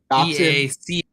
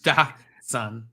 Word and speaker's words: dachshund: Dachshund. And then you pronounce it Dachshund. Like that's preposterous. I can't. If you were to pronounce it just phonetically here, it'd be Dachshund.